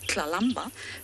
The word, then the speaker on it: Tlalamba: tongue, like Shangaan, and Tlalamba, which is a really unique pronunciation. You sort of use the back of your mouth to say the word.